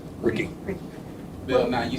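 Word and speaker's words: Ricci: It's pronounced Rick. Ricky.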